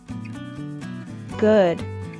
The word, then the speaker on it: good: something is all right note that the double O in good is a uh sound which we pronounce by raising the back of our tongue while rounding the lips and moving moving them forward a little uh uh good good